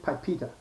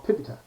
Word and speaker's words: PIPEDA: PIPEDA, I pronounce it PIPEDA, okay, or PIPEDA, okay.